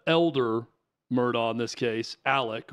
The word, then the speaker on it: Alex: Well, the main thing is the double homicide, double murder, that the elder Murdaugh, in this case, Alec, or it's spelled Alex, but Alec Murdaugh is accused of.